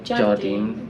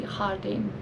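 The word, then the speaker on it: Jardín: Although we pronounce the Jardin, but yeah. it's actually Hardin.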